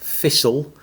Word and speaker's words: thistle: Take a noun like thistle. The reason why it's spelled with a T in the middle is because in the middle English period the T was pronounced.